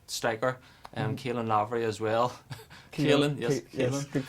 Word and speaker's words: Caelan: Caelan, yes, good pronunciation.